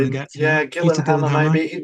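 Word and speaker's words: Gyllenhammar: n h a m m a r so Gillan Hammer probably the best pronunciation get yeah Gillan Hammer maybe not a name I recognized what's for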